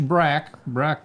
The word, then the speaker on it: Braque: Well, if you guess George Braque, you give yourself 1,000 points.